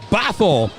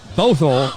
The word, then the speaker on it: Bothell: sports broadcasting accents as we try to pronounce baffle all night not Bothell and uh believe me